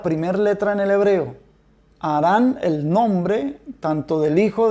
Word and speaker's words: Harán: idéntico en el español se cambia la h al principio por la jota pero es una jota cultural y entonces se pronuncia harán entonces el nombre de